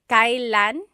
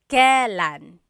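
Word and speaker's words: kailan: It's pronounced kylan kylan but you will often hear it pronounced kalan.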